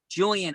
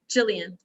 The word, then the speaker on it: Jillian: Julian, are you ready? I'm ready. Okay, and I want to get the proper pronunciation. It's Julian? Jillian. Jillian with a J-I, correct? Yeah, like Jack and Jill.